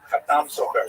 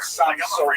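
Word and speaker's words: חתם סופר: Khatam Sofer, Sephardi pronunciation. Obviously, some of the consonants are slightly different, and the emphasis tends to be on the last syllable. But the Ashkenazi pronunciation tends to be on the first syllable of the Sam Sofer.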